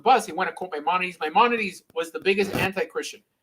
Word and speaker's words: Maimonides: I see that Maimonides, sorry, is it how you pronounce it? Yeah. The Rambam, you can say the Rambam.